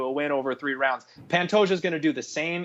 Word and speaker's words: Pantoja: damn good but it's Pantoja you actually do pronounce the J on this one Figueredo is a murderous